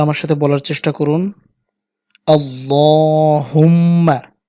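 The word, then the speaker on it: اللهم: সম্মানিত দর্শক, আপনারা আমার সাথে বলার চেষ্টা করুন আল্লাহুম্মা। এখানে এক লিপ টানতে হবে এবং এখানে গুণা করতে হবে।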